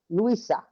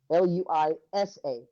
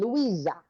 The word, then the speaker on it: Luisa: they say my name, the Hispanic way to say it properly is Luisa, Luisa. And I get there in Portugal, and they're going Luisa with a Z, and I'm like, when